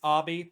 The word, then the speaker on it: Obby: It is technically pronounced Obby, but like I'm not gonna give him shit for that. But that's because it's like a whole Yeah, that's because Obby is just short for.